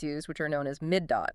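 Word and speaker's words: מידות: Our core subject is the hermeneutical methods the rabbis used which are known as midot. That's the plural pronounced midote.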